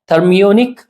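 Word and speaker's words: thermionic: इसका सही प्रोनाउंसिएशन है थर्मोनिक एमिशन।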